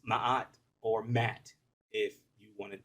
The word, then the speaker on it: Ma'at: ancient kemetic Egyptian goddess Ma'at, um, or Mat, as most people would say.